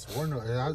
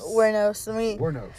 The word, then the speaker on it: Wuornos: Wuornos. That's how you say it. Wuornos? Wuornos.